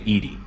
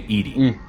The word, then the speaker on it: EDI: Why are you named Edie? EDI is the phonetic pronunciation of EDI. That is an acronym for Enhanced Defense Intelligence. Why are you named Edie?